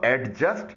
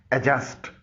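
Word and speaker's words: adjust: एडजस्ट इसको एडजस्ट न पढ़िएगा, इसकी सही प्रोनाउंसिएशन है एडजस्ट.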